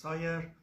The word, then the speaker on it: SIRE: I'm the founder of Synovate Incubator of Research and Entrepreneurship, which is pronounced SIRE.